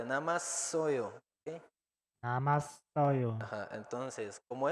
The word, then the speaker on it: 남았어요: vean que en la segunda sílaba tiene doble shiot. Suena más fuerte, namasoyo.